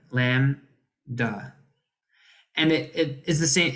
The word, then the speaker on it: Lambda: letter Lambda and uh the B is silent Lam da and it is the